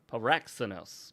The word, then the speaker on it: Paraxenos: Paraxenos because it has that accent on the second day. It's not a paraxinos, it's paraxinos.